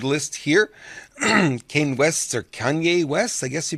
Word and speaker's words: Kanye: on our esteemed list here kane west or Kanye West I guess you pronounce it latest number one album removed from